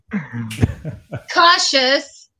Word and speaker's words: cautious: Cautious and righteous. Cautious. Cautious. Cautious. Cautious. Cautious. Oh, yeah, with the shh. With the shh sound.